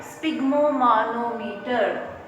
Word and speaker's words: sphygmomanometer: SPHYG, sphygmomanometer. Alright, friend. So just practice the pronunciation of this device, right? So sphygmomanometer.